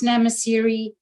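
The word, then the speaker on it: Nxamaseri: camp there is called namasiri um just for those of you who are interested uh you don't pronounce the x in that word just to help you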